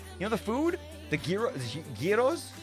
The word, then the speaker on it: gyro: You know, the food the gyro giros. How you pronouncing like you can't say g you can't say you can't say girro or zero. People get mad at you.